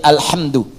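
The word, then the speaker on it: الحمدُ: Jadi alqus alamid bacaan diarah sabaah semua para pembacanya itu mendomahkan huruf dal di alhamdu ya.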